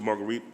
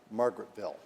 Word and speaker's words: Margaretville: of the village of Marguerite, New York. Senator Oberacher on the resolution. Thank you, Madam President. And just as a point of order, it is pronounced Margaretville.